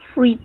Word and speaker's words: fruit: ¿A milk salad o a fruit salad? Fruit. Fruit salad. Fruit, no fruit. Fruit. La I no se pronuncia.